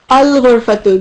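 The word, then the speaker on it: الغرفة: So with ghurfatu, al-ghurfatu. Good. Al-ghurfatu. You say the lam.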